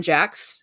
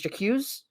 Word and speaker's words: Jacques: right because he's got i always for a while when i was younger i thought it was always jacuzz because jocks because there's a q in there and english and we is